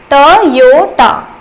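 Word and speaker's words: Toyota: बहुत ही फेमस है, पर हम इसे टोयोटा बोलते हैं, जैसा जैसा लिखा होता है हम वैसे प्रोनाउंस करते हैं, बट एक्चुअली ये टोयोटा नहीं है, इसका प्रोनाउंसिएशन होता है टोयोटा।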